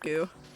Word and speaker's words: GU: like new nutrient d i pronounce that G I guarantee you it's pronounced goo unless my mom has